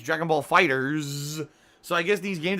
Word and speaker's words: Dragon Ball FighterZ: But hey, Dragon Ball FighterZ is supposed to be Dragon Ball Fighter Z, which would make more sense, but instead they say it's Dragon Ball Fighters.